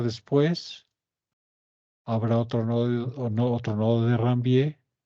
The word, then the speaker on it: Ranvier: O nodo de Ranvier, si quieren hablar bien en francés, sin pronunciar la R.